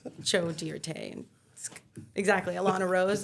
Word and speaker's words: Joe Dirt: situation what' you say it's dear de it's pronounced Jo dear T exactly Alana Rose like come on I'm giving